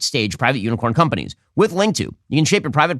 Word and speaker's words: Linqto: Get started today with Link2, the premier platform for private equity investing. Link2, which is spelled Linqto, provides a streamlined solution for